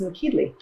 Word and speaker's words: Nokedli: you how to make Hungarian dumplings, which is pronounced Nokedli. Well, our cauliflower soup has been cooking for about 45 minutes. And it's ready to add our dumplings, or as they say in Hungarian, Nokedli.